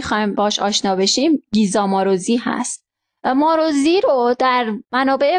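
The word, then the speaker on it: Maróczy: اما این تلفظ صحیح اسمش ماروزی هست.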